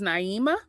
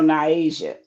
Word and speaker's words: Naisha: So the first thing I'm going to tell you, I believe you said her name was Naima. No, Naisha.